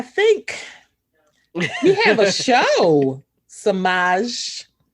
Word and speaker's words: Semajh: So Semajh. Semajh. Semajh. I can go on about how many ways my name has been mispronounced.